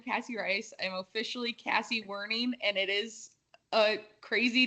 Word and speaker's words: Werning: I'll let you introduce yourself, Kassi, so I don't butcher the last name. It's not that hard to say, but is it Werning? Werning.